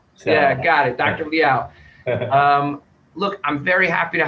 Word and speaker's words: Liao: Yeah, it's Liao. Liao. Rhymes with chow. So. Yeah, got it. Dr. Liao.